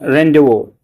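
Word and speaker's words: rendezvous: इसको प्रोनाउंसिएशन इसका रेंडवो होगा। जैसे आर इ एन डी जेड ओ वी ओ यू एस है बट इसको रेंडो बोलते हैं।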